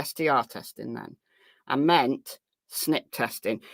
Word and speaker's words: SNP: I meant SNP testing. It's SMP, so the I is silent, so SNP. Just called SNP, right? SN little IP, just because it looks like the word snip.